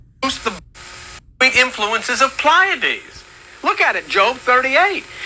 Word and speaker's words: Pleiades: Well, it says, or can you I would pronounce it Pallades, but wow. lose the sweet influences of Pleiades?